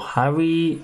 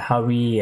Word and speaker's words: 7ARI: But Harry on this one though, I mean Seven Harry or Harry, Harry? Harry, I think that's how you pronounce it, Harry. Seven is ha, right?